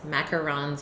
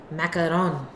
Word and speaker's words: macaron: Would it be pronounced with a nasal vowel at the end, and otherwise, is it French? Yes, macarons are French. Macaron.